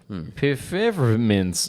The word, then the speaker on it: Pfefferminz: Pfefferminz. That's how you say it in German.